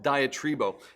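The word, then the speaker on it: διατρίβω: spend time is actually a Greek word that's pronounced diet rebo and it's like this composite word diet riba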